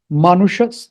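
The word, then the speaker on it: मनुष: this sha this sha this sha is a retroflex so you have to twist your tongue upwards and touch it to that Ridge and then pronounce it sh om manusha okay I will show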